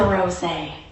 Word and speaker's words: rosé: Pronouncing it like the flower. One syllable with a long O. "What's that?" asks the bartender assuming he misheard. Her friend leans in interjecting, "She'll have the rosé."